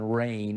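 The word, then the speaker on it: Reign: dakota rain prescott and i'm going to spell that middle name r-e-i-g-n rain as in rain over right it didn't happen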